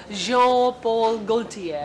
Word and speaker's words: Jean Paul Gaultier: Well, it's written as Jean Paul Gaultier, but एक तो it's Bangla मुझे pronounced कैसी? Jean Paul Gaultier.